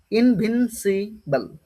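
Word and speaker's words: invincible: এন ভিন seal C আইবি ইনভিন কি বললাম উচ্চারণটা কি হবে ইনভিনসিবল ইনভিনসিবল ইনভিসিবল ইনভিন্সিবল ঠিক আছে এতদূর পর্যন্ত বুঝতে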